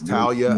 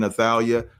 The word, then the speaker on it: Talia: pronouncing her name correctly it is Talia I've been saying athalia I just don't want